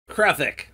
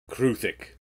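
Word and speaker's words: Kruthik: Kruthic. Kruthic. Ruth. Truth. Truthic. Kruthic.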